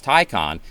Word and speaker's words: Taycan: the first thing is most people don't know how to pronounce the name, and it's Taycan. This name, I think, was leaving so many people confused. Porsche actually put out a video that where the announcer said several times, Taycan.